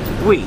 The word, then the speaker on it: Hue: Tim I always have trouble you we we we it is spelled hu e and it's pronounced we uh